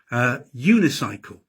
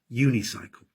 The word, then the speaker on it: unicycle: And sometimes a vowel sounds like a consonant, unicycle. The man is riding a unicycle. It sounds like it begins with a Y, unicycle.